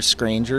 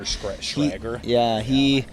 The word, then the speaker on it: Schrager: McCarthy, just like Peter, I don't forget how to say his last name, but Peter Scranger? Peter Schrager.